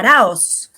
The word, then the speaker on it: Araoz: last name is hard for me to pronounce because I'm a Guaylo from here, from St. Louis. Araoz. Yeah. Arauz.